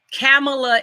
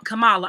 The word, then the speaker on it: Kamala: issues not the person camela is Kam Kamala I'm sorry because I don't mean to mispronounce the name Camala is not on